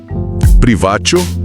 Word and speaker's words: privatio: Privatio, que se pronuncia privatio, Privatio.